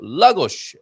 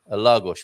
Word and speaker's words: Lagos: In Portuguese, the penultimate syllable is usually the accented one, unless you have a diacritic mark, of course. Oh, an accent. Thank you. Then that one is the accented syllable Lagos, for example, Lisboa, Martinho.